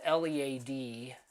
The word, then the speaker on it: Lead: sister city of deadwood which is lead spelled lead pronounced lead that is where my parents